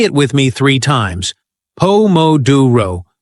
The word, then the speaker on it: Pomodoro: We stress the second syllable, pouro, exactly like Italian chefs. Nailing stress patterns makes your English sparkle with authenticity. Say it with me three times. Pomoduro. Pom moduro. Pom moduro.